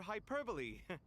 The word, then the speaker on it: hyperbole: He shares your sentiments, just not your, penchant for hyperbole. Assuming that's what you were going for? Hyperbole? That's... I would pronounce it hyperbole.